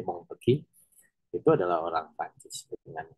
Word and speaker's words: Montesquieu: Mungkin kita kenal dengan Montesquieu atau Montesquieu ya, katanya dibacanya Montesquieu, itu adalah orang Prancis dengan konsep legislatif, eksekutif, yudikatifnya gitu.